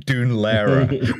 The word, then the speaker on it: Dún Laoghaire: one side, standing here in Dún Laoghaire, which has five consonants that aren't pronounced.